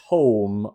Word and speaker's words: Tome: we are talking about, it is the Tome of Yahan, which is the... I thought you were going to correct my Proboscis pronunciation, because I know people... Proboscis is fine, especially because there aren't many other items that sound like Proboscis, but Tome is the book.